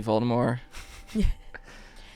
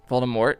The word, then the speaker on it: Voldemort: but yeah no r.i.p voldemort you never pronounced the t voldemort yeah voldemort i like